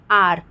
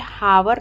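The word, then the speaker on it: hour: ठीक है, सही प्रोनाउंसिएशन यही होता है, आर। ठीक है, हावर पढ़ते हैं, आर जो होता है हावर नहीं पढ़ते हैं।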